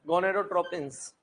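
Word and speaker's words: gonadotropins: गोनेडोट्रोपिन्स, pins होता है, pins, fins नहीं होता।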